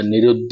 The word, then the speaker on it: निरुद्ध: फिर आप देखें निरु अब ये द और फिर नीचे ध है तो इसके ऊपर हमको जोर देना पड़ेगा हमको दोनों को उच्चारण करना पड़ेगा निरुद्ध तो हमने द के